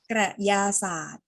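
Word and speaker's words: กระยาสารท: ไข่ กับ กระยา สารท มี เสียง รอ เรือ แล้ว ปิด ตัว รอ เรือ สะกด แค่ ส เสือ สระ อา ท ทหาร อ่าน ว่า กระยา สารท ใช่ ไหม คะ อ่าน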